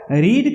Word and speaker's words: read: और रीड का V3 रेड होगा, पढ़ेंगे रेड, लेकिन यह स्पेलिंग रीड वाला READ वाला स्पेलिंग होगा, लेकिन जो पढ़ेंगे उसको रेड पढ़ेंगे, आई हैव रेड।